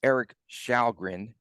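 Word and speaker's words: Erik Källgren: in the goaltenders pronunciation it's Eric shalgren okay because he's Swedish and they pronounce their names differently but he faced just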